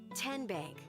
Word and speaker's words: Tenbank: Tenbank. 10 as in Tennessee.